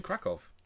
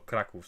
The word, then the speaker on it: Kraków: And I have actually gotten this when I was in Krakow. Oh, Kraków, sorry. We have Polish people here, so I should probably pronounce it properly.